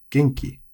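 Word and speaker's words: 元気: So kirei, genki, shizuka. All of these have the accent on the first mora.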